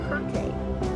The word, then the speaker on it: Kirke: Circe was originally a Greek goddess whose name was written and pronounced as Kirke.